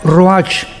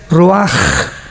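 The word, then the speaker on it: רוּחַ: h, que se pronuncia roach, pero en el hebreo es roaj. La ch en el hebreo es como J.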